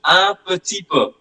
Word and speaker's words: un petit peu: Then there is an expression, un petit peu.